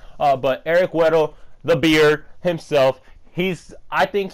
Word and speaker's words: Weddle: Weedle like the Pokemon, yes. But Eric Weddle, the beard himself, I think he should come to the Steelers.